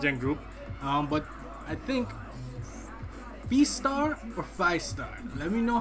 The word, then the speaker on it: FIESTAR: It's FIESTAR. The R is silent.